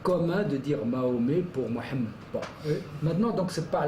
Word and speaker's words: Mohammed: bon, je prononcerai Mohammed carrément avec le H guttural puisque je parle arabe et je fais aussi des débats en arabe, c'est pas le problème.